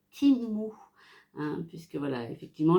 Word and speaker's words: Temu: maman, ça se prononce Timo. J'ai dit ok, donc on va prononcer Timu, hein, puisque voilà, effectivement le E en anglais se dit I et le U se dit OU, donc ça fait Timu.